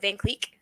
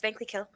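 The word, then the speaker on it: Vankleek Hill: butcher the name, and a lot of people like to just call it Van Cleek. So they just say Van Cleek. Like it's Vankly Kill.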